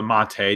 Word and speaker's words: MATE: on the page about the project for the Mott a desktop environment man they have this big holes